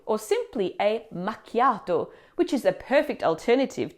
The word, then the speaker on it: macchiato: But the tricky part here is the ch sound. In English, we're used to saying ch as in cheese, but in Italian, ch always sounds like a hard C- sound, like in the word key or car.